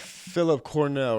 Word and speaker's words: Phill Cornell: We got Phill Cornell, right? I've always said that, right? You said it right, bro.